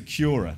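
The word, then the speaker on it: Qura: By the way, it's spelled with a Q, not a C. So, uh, but we're going to pronounce it Cura.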